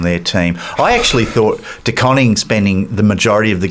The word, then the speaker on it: De Koning: De Koning? De Koning. Well, I've heard Carlton fans pronounce Carlton it the other fans, way.